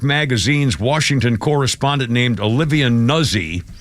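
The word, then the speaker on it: Nuzzi: Washington correspondent named Olivia nuzi it's probably pronounced newsy which is ironic she's a news person pronounced newsy uh she's on leave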